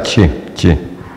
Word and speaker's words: she: Ah, perdón, aquí nos faltó la original, que es chi, se pronuncia chi, bien suave.